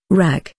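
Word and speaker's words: rakı: holy month of Ramadan ragi pronounced RAC is a most popular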